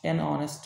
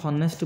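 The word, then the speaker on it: honest: কারেক্টসার hour অনেস্টি অনেস্ট অনেস্ট ম্যান আমি অনেস্ট পড়ি যে হনেস্ট বলে পড়িব ঠিক আছে অনেস্ট পড়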